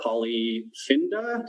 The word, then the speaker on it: Polyfinda: such as #Open, which I'm also on, or Polyfinda. Did I get that pronunciation right?